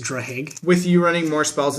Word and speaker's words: Draghig: When Drahig, or I don't even know how to pronounce this, like Draghig. Maybe the G is silent. It's just Drahig.